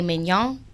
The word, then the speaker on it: Mignon: My ad name is Mignon. And I'm like, because it rhymes with filet mignon.